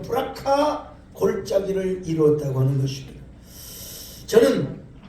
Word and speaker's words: 브라가: 그래서 거기서 승진했던 골짜기의 이름을 역대하 20장 26절에 보니까 브라가 골짜기라. 브라가 골짜기. 조금 더 발음을 제대로 하면 브라카 골짜기를 이루었다고 하는 것입니다.